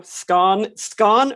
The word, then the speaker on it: scone: All they need to know, scone rhymes with dawn.